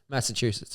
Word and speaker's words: Massachusetts: Massachusetts. Yeah. Oh, it's not the soft ch, it's the hard ch. Chew. Yeah. Chew.